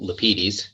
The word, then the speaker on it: Lapides: And my name is Lapides, and that's spelled L-A-P as in Peter, I-D as in David, E-S as in Sam. I always say it that way because that's the way my dad said it.